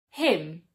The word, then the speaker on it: hymn: Many words that end in MB or MN do not pronounce the B or the N. For example, lamb, thumb, hymn, solemn, autumn.